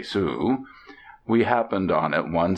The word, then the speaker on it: Sault: the little town of sault ste marie pronounced abruptly sue we happened on it